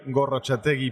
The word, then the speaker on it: Gorrotxategi: I didn't dare to to to to pronounce that. Well, my my full name is Gorachi.